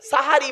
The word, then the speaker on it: সাহারি: মানে জাদু করা আর সিনে জবর দিলে সাহারুন মানে হল রাতের শেষ অংশের খাবারকে আরবিতে সাহারি বলে তাহলে একচুয়াল শব্দটা কি হবে সেহরি না সাহারি তাহলে ভুলটা ভাঙল এই ভুল সংশোধন করানোর